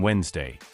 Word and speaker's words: Wednesday: Thus, Woden's Day became Wednesday, though the spelling hides the pronunciation.